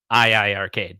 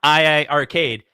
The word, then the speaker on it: iiRcade: It's not iiRcade. It's iiRcade. The second I is silent.